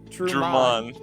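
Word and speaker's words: Trumann: Truman. Drummond. Like Truman, but the emphasis is on man.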